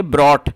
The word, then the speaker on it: brought: और इसकी जो करेक्ट प्रोनाउंसिएशन है वो है ब्रॉट, और इसका मतलब होता है लाना, और ये ब्रिंग की थर्ड फॉर्म है।